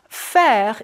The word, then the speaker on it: faire: Faire is like the sound we made earlier for je préfère.